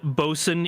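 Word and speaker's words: boatswain: about the fact that the word bosen is spelled boat Swain oh yeah and sort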